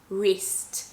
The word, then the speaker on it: wrist: whole cheese by myself when you have the w plus r then you're just pronouncing the r or with the word